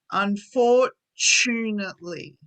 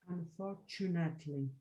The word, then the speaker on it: unfortunately: This T here is, so the T sounds like ch. So when you say chair, Chair. Yeah. yeah, It's the same sound. So listen to when I say this in the word. Unfortunately. Perfect. You said it right. So don't worry about making a t sound. You want to make a ch sound.